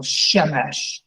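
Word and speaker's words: שמש: there you go and there's a rule that we all need to learn when you have two cycles in a row you accent the first syllable Shemesh shemish nice very nice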